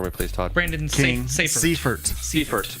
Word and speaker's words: Seifert: Pronounce his name for me, please, Todd. Brandon Seifert. Seifert.